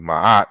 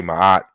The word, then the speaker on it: Maat: R K T and this is the the more ancient pronunciation of my heart was something like Mara Keats America it something along those lines we don't know what the vowels were but as we can see is different than my but I'll continue to say my heart because those who are familiar with the concept knows that's how we usually pronounce it but I will show